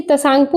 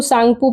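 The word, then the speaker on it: Tsangpo: यानी कि तशांगपो लिखा गया है, लेकिन यहाँ पे जो टी जो है ये साइलेंट हो जाता है, तो इसको सांगपो पढ़ते हैं, ठीक है, सांगपो।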